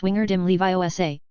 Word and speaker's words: Wingardium Leviosa: "You're wrong," Hermione's voice came from behind Lind, and she said bluntly, "It's Wingardium Leviosa, and the word GA should be pronounced long and clearly.